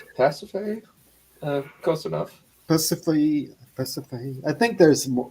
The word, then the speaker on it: Persephone: Persephone. I think there's more. I think there's like 4 syllables. Persephone. I think it's 4 syllables or something.